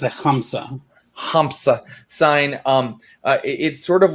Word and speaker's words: Hamsa: Did I pronounce that correctly? It's a Hamsa.